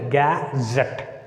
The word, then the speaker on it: gazette: Here the second syllable begins with the letter Z. That's why we need to put the stress mark on Z. Gazette.